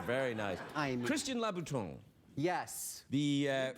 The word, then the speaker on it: Louboutin: I mean- Christian Louboutin. Yes. The You pronounced it correctly, which is very good.